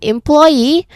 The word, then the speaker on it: employee: So in employee the stress doesn't come early. Instead, the word rises toward the end. Employee. Again, employee. So, it finishes with a punch. That final syllable is where the voice lands loud and clear.